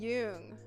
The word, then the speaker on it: Jung: I'm using Jung.